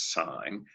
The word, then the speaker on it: sin: We'll call these functions sin, which we still pronounce as sine, cos, cosine, tan for tangent.